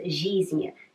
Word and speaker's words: жизнь: We write ж and и, but we don't pronounce жизнь.